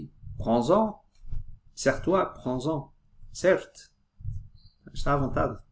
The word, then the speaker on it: prends-en: » Quand on dit « Prends », on ne prononce ni le D, ni le S. Mais dans l'expression « prends-en », on prononce la dernière consonne avec la première voyelle, dans ce cas, du pronom.